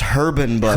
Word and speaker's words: Herban Bud: It's pronounced Herban Bud. Herban Bud. Yeah. Everybody knows the H is not silent.